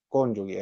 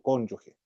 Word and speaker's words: cónyuge: y va a poner ahí cónyugue, ahí le va a corregir. Se debe pronunciar por cónyuge.